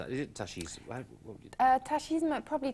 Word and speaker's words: tachisme: What would you Tachisme, probably tachisme. I think, I mean, it is, as you can see, it is from the French, so originally it would have been tachisme.